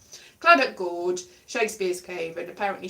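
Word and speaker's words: Clydach: It's with a Y, Cly, but it's pronounced Cluddock. Cluddock Gorge, Shakespeare's Cave, and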